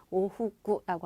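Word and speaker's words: 往復: 오후구라고 하면 왕복이에요. 이해되셨죠? 그래서 요 발음은 여러분 복자도 되지만 다시를 의미하는 부자도 있거든요. 같이 연결해 두시면 알아두시면 되고요.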